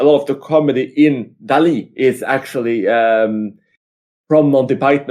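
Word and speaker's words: Dalí: over and over again, Dali. And I'm saying that way because that's how the name is pronounced over and over and over again in this film.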